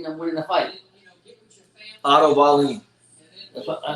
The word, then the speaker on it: Wallin: The real Dillian White better not sleep on my Wallen. He better not sleep on Wallen. Who we got winning the fight? Otto Wallin. I said the same thing. I said it wrong. Wallin.